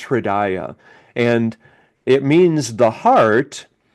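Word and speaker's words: हृदय: It's pronounced Hridaya.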